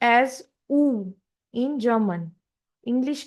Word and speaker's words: U: English you is pronounced as ऊ in German.